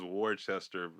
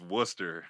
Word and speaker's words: Worcester: in Massachusetts right Worcester Academy which everybody says War Chester that's how I pronounced it earlier that's how I pronounce it